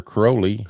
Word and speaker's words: Crowley: more Crowley Alistar Crowley Alistar crowly here rhymes with holy because it rhymes with holy holy Crowley got like holy moly remember we're on P